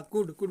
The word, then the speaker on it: could: जैसे आप देख रहे हैं COULD है ना, तो इसमें जो आपका L दिया गया, L हमारा क्या है, L साइलेंट है, तो इसका होता है L साइलेंट रहेगा, तो ये होता है आपका सका कुड मीन्स होता है सका